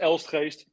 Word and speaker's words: Elstgeest: part is the the difficult part is else haste that's the family name and it has the like the dutch people uh pronounce it so that's why it's very difficult